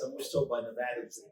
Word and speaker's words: Nevada: I'm always told by Nevadans that it's pronounced Nevada, not Nevada, not Nevada.